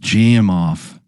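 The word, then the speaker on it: Gamow: A game off bag, pronounced jam off, was invented by Eigore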